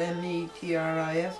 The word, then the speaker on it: Metris: More specifically, outlined in the case, I would think it would be Metri, it's spelled M-E-T-R-I-S, okay, Metris, versus Edwards.